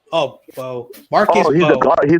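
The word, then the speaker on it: Mbow: Marcus, is it Mimbo or Bao? It's just Bo. Oh, Bo.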